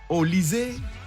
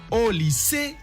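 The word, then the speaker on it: Olise: Michael au lyssée prononciation française ou Michael au lycée prononciation nigériane n'a pas le temps.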